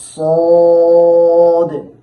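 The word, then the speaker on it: صاد: এই সদ হরফটিও উচ্চারণের সময় জিহ্বার আগা সামনের নিচের দুই দাঁতের প্যাট ও আগার সাথে লাগাইয়া উচ্চারণ করতে হবে, এবং এটার মধ্যেও সদের মধ্যেও সিনের মতো একটি অতিরিক্ত আওয়াজ যুক্ত হবে।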